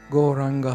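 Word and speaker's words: Gauranga: to chant goranga um goranga has four syllables it actually means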